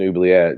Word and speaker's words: oubliette: And I was just like, "It's an oubliette."